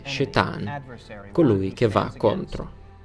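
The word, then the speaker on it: שטן: Questo nemico, la Bibbia lo chiama semplicemente Satana, che in lingua ebraica significa nemico, avversario, che pronunciato in ebraico sarebbe Shetan, colui che va contro.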